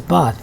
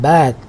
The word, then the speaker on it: bath: So it is bath in British English or received pronunciation, and bath in American, general American.